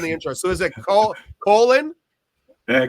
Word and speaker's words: Coughlan: So, is it Co Colen? Uh, Colin is the way I pronounce it.